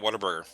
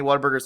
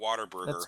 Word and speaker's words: Whataburger: It's Whataburger. It's not Waterburger.